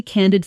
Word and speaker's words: candid: She gave me some really candid feedback on my presentation. Listen to the stress. Can-did. Strong on the first syllable.